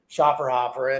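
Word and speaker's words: Schöfferhofer: You have to say it right, too. How do you say it? Schaffer. You're right. Schaffer. You're right. Schafferhofer.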